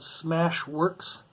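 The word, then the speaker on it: SmashWerx: It's a YouTube channel called Smash Works. S-M-A-S-H, Smash. But Works is spelled W-E-R-X. So it's Smash We RX. And that's all bunched together for one word.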